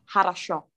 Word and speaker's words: хорошо: Harasho, dia di belakang.